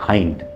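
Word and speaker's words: hind: तो कई लोग हाइंड को हिंड पढ़ देते हैं. हिंड नहीं, क्या है हाइंड.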